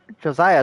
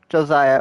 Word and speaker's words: Hosea: I've never known if it's Josiah or Hosea. Or Hosea. Well, no, it's not Hosea. What am I saying? It's not Hosea. I've always thought it was Josiah, because that's how they say it in the game, so I guess it is. Back and quite as slippery and confusing as ever.